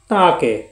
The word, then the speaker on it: তাঁকে: আসতে বলেছিলাম আরেকটি দেখুন তাকে এটা চন্দ্রবিদ থাকার কারণে নাচিক্য উচ্চারণ হবে তাকে সম্মানিত ব্যক্তিকে সম্মানের সাথে